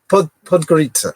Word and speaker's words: Podgorica: Is that how you spell it? Podgorica. Podgorica.